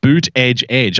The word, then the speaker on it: Buttigieg: On Friday night, Buttigieg, his campaign T-shirts bear the phonetic spelling Boot Edge Edge. I am not pronouncing his name Boot Edge Edge. Buttigieg.